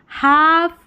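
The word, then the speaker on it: half: देखिए हाफ काफ बिहाफ और हाफ वे। हाफ वे। सभी में एल साइलेंट है और ए एलएफ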